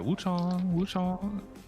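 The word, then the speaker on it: Wuchang: Oh, sorry, Wu-Chang. That's how you say her name.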